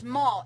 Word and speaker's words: Moll: website is Mo it's maul m o l it's ma it's pronounced like Maul but it's m oaz